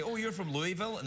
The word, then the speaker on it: Louisville: say, oh, you're from Louisville? And they're like, don't say it like that! Well, they kind of slur it. It's like Louisville. Louisville.